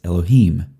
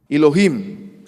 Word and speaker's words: Elohim: for the way Christian Prince pronounces a certain syllable. If you'll notice how Hijab says Elohim. Elohim.